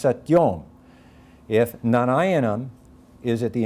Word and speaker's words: satyoṃ: final syllable, so that if satyam ends at the end of a line in the Samaveda, it's pronounced satyom.